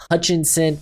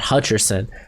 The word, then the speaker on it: Hutchinson: line of scrimmage anyway aiden hutchinson not hutcherson uh if you don't